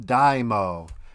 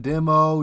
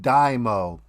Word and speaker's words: DIMO: be talking about dymo yeah that's how you say it it's not demo demo it's called dymo i got that from the mods and their discord i was asking um how do you say it properly they said dymo the example they gave me was like you put your car on a dyno to get your horsepower and rpm stats it's like dymo you